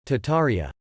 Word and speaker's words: Tartaria: little access to farmland tartaria originally pronounced tataria without the first R is the name of